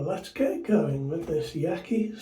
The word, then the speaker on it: Yaqi: get going with this Yaky slant 37 now or Yi I think is the correct way of pronouncing it now it's a slant